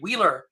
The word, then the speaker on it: Weiler: email really and uh my name uh is spelled w-e-i-l-e-r and a lot of people's but say wheeler because that's how it sounds but it's uh you